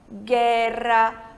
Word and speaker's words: guerra: vogais E e I, a gente não pronuncia a letra U, né? É igual ao português. A gente não fala guerra, a gente fala guerra. Então, em espanhol, guerra, guia, guilhotina, tá certo?